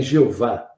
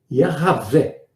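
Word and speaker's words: Javé: o meu nome perpetuamente a palavra eu sou a pronúncia correta dela se perdeu ao longo do cegos seria o pessoal fala por aí Jeová que é o nome de Deus Seria algo como se fosse erravé e significa eu sou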